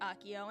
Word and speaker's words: Akio: I like to have everybody shout out it's pronounced Akio and uh let's see his document let me